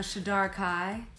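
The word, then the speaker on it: Shadar-kai: Yes, I'm a Shadar Kai.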